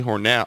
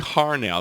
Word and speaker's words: Harnell: ocean Kings of 1 out of Norway Tony Hornell harn Tony harnell there I got it right there rejoin for